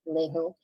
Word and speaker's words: Vallejo: that's how to pronounce his last name, Vallejo.